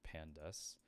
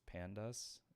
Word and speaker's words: pandas: Every time I see pandas, I pronounce it as like pandas or pandas. When it's like, why don't you just say pandas? Like the bear.